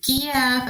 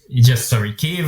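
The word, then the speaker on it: Київ: Kiev is a Russian pronunciation, Kiev is Ukrainian.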